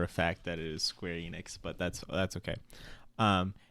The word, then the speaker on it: Square Enix: Enix and it sounded like he was saying Square inks I've heard it pronounced both ways which I know for a fact that it is Square Enix but that's that's okay um and Seth was